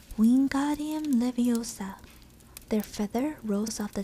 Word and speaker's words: Wingardium Leviosa: saying it wrong having heard hermane snap it's wingardium leviosa make the god nice and long you do